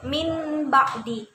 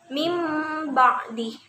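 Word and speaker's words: من بعد: Kalimatnya yaitu min ba'di. Tetapi karena ini hukum iqlab, maka cara bacanya yaitu mim ba'di.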